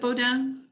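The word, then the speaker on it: Beaudin: So our second honor title is Life List by Marc Baudin. Am I saying that right? Is it Baudin? That's actually better than my family pronounces it.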